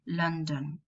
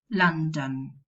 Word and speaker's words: London: plus nasal, for example, London, nasal plus a plosive. Now, it's not common to find nasal plus plosive and then another nasal. You will pronounce a vowel there. London, Minton, lantern, abandon. Now, the lateral.